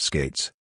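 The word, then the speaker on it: Skatzes: Jackie Bowers sister of George skates pronounced skates who had just been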